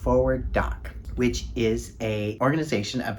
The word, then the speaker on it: FWD:Doc: With this video, I'd like to lift up FWD:Doc [pronounced "Forward Doc"] which is an organization of documentary filmmakers with disabilities.